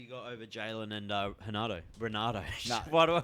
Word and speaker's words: Renato: Who do you got over Jalen and Renato? No. Why do I keep calling him Renato? Renato. It's Renato, mate.